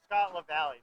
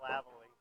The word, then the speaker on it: LaValle: Yeah, it was Scott LaValle, not Scott Lavalley.